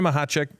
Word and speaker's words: Machacek: me oh I loved it so that's mahat uh don't try to write it like you spell it or like you say it because you'll